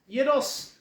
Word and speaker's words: gyros: I know how to pronounce things. Um, Alpha, beta, omega. Anyway, yeah, gyros.